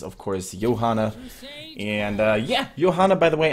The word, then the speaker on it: Johanna: course Johanna and yeah Johanna by the way I'm pronouncing her the German Way with a soft y instead of a j because man that's the